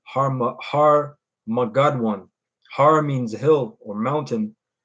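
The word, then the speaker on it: הר מגידו: That's how you say it in the Hebrew. Harmagadwan.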